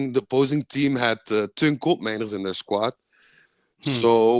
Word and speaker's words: Koopmeiners: I would like you to repeat slowly and loudly how you pronounce Koop Miners, please. Okay, I'll try. It's koopmijners. I love it. I love native speakers pronounce. I'm guessing you're very close to uh, the Dutch pronunciation.